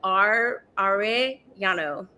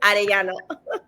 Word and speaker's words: Arellano: I'm going to pronounce it like how Americans pronounce it, which would be like Arellano.